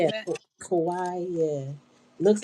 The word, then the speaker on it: Kauai: I think it's pronounced Kawaii or something like that, Hawaii. or something like Yeah, that. Kauai. Yeah, looks like Hawaii with a K, but I think it's Kauai.